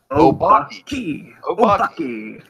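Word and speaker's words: Obake: Obaki.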